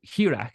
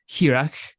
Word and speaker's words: Hearach: Hearach.